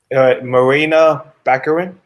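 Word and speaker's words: Morena Baccarin: Marina Baccarin.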